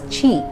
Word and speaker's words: Ki: According to practitioners, Reiki channels the universal energy known as Ki and it is pronounced as Chi.